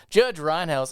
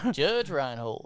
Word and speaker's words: Judge Reinhold: Judge Reinhouse on a surfboard, like with a fucking ice cream cone or some shit. Love how you get part of his name wrong every time. Judge Reinhold.